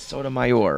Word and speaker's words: Sotomayor: How do you say it's Sotomayor, right?